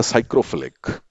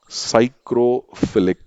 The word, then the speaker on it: psychrophilic: If they are loving very cold conditions, so they are known as the psychrophilic. P is silent over here. So they are known as the psychrophilic bacteria.